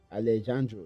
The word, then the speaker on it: Alejandro: And this is Allesando. I I believe I'm pronouncing his name well. Alleando. Let me look at his name. Alleandu. Alejandro.